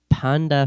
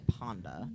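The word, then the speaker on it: Pandafeche: Italy it's interpreted as panda fche panda fety yep that's exactly how it's spelled oh p a n d a f e c h e it's definitely Ponda not Panda Ponda fet fet fet fet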